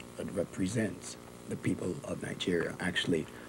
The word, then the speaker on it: Nigeria: represents the people of Nigeria. Actually, the right pronunciation of Nigeria is Nigeria, not Nigeria. There's no J in the spelling of Nigeria. It's N-I-G-E-R-I-A, Nigeria.